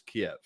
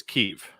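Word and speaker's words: Kyiv: the issue is the the russian pronunciation is kiev the ukrainian pronunciation is keef because i hear that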